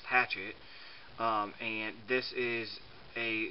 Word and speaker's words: Hachette: france that is called i guess in english it's pronounced hatchet um and this is